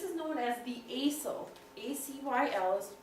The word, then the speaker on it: acyl: flat river this is known as the acyl a cyl is pronounced acyl part of your compound this is